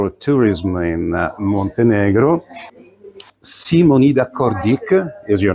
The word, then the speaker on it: Kordić: Simonida Kordić is your name. Kordić. As good pronunciation, is it? Kordić.